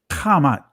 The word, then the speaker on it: Kemet: Just like when you say Kemet is actually Kamat, right?